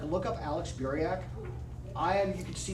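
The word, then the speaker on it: Buriak: Steve's um just go to like look up Alex Burak.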